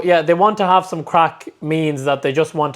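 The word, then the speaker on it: craic: That's how you spell it. C-R-A-I-C, yes, not C-R-A-C-K. Just to clarify that. Crack is fun in Ireland, okay?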